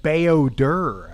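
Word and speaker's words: Bao-Dur: Oh, he said Bayodur. I guess the pronunciation is Bayodur this whole time.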